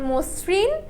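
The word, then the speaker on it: মসৃণ: দেখ অধর্নির পর যদি ঋকার হয় তাহলে অধ সংগৃত উচ্চারণ হয়। যেমন মসরিন যকৃত ইত্যাদি ইত্যাদি।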